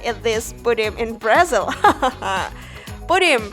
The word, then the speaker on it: pudim: Pudim, pronounced something like munching in Brazil, is a word that was imported into Portuguese directly from the English word pudding.